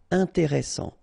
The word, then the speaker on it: intéressant: Double S, same thing here. S, strong, and it opens the pronunciation of your E. Intéressant. Final T not pronounced.